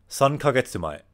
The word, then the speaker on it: 3ヶ月前: It's the way you pronounce it is 3ヶ月前, 3ヶ月. And yeah, I recommend looking it up and you can see how it's written, but it can use that small K.